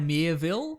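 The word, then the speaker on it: Miéville: author called China now to pronounce his last name but it's China mere Ville hmm and he's does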